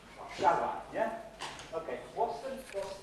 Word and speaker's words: Warszawa: Warszawa. Okay. Now, did you hear that the stress syllable was the one next to the last, the penultimate syllable? Warszawa.